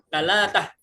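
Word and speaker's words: تلاتة: Sa diganti ta, jim diganti g. Oke. Jadi talagah. Sama kayak salah satu dibacanya di Mesir apa? Talatah. Ya.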